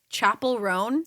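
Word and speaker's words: Chappell Roan: I don't know how to pronounce her name. I feel like Brandon, you probably know how to say her name. Chapel Roan.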